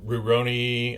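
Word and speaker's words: Rurouni: And then Roni, I think that's how you say it.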